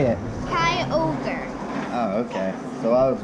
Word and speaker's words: Kyogre: Kyogre.